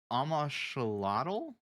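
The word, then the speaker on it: Amoxliatl: Dude, how do you Amashalotl? Is that how Oh, that's I pronounced? have no idea. I just Because fought it. the X is like a sh sound, right?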